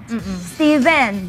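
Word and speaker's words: Stephen: pH it's a p Steven the Biblical name pH but you pronounce it with a V th e is vowel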